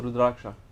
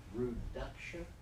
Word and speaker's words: Rudraksha: How are you pronouncing it? Rudraksha. Rudaksha? Ru. Ru? Dr. Dr. A. Ah. Rudra.